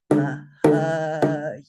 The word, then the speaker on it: Mahayana: You will only see the downstroke, and that tells you pronounce it for 2 beats. So again, Mahayana. Everybody say Mahayana. Mahayana.